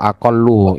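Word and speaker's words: أَقَلُّ: Jadi yang bilang aku lu seperti halnya kemarin ya silakan bisa Bertaubat. Saya itu taubat saya. dan jangan diulangi lagi ya. Jadi cara bacanya adalah wa aqallu.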